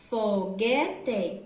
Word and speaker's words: foguete: não né correto é foguete g quer tem a letra g u e é mas não sai a letra o som da letra u blog é como se